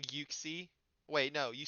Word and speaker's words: Uxie: I say Yuxie. I've heard oopsie. If anyone says in this chat, they're banned. Okay. It's not Oxie. And you're lying if you say that.